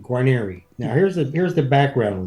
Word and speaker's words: Guarnieri: I pronounce my last name Guarnieri. Now, here's the background on this. My grandfather, we have papers where my grandfather was Guarnieri, like the violin.